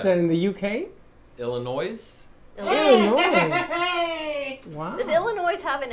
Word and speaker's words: Illinois: Illinois. Wow. Does Illinois have an, I know it has an S. Do you pronounce the S or is it silent? I think it's Illinois.